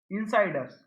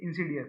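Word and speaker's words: insidious: अगला वर्ड इनसाइडस, ये इंसीडियस है इसका मतलब प्रोनाउंसिएशन, बट मैंने कैसे याद कर रखा है, इनसाइड अस, है ना।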